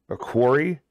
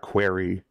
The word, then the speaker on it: quarry: quarry, which is a quarry. I guess it's pronounced quarry, not query.